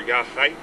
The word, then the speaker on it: Ya'Xaik: because there's so many sounds in Indian languages that aren't easily adaptable to an English phonetic system so we had lots of different examples of writing and uh which was supposed to represent the pronunciation of yahats or yah Haik and um with most of our languages you have to have a bit of slobber in your mouth and and gargle your age or kind of an